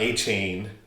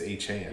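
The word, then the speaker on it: Achane: Yeah, I was going to say I learned that yesterday that he actually it's not A Chain, it's Achan.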